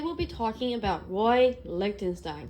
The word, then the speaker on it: Lichtenstein: Lichtenstein. It sounds like a supervillain. To me it does, at least. A fun way to remember his name is it rhymes with Einstein and also Frankenstein.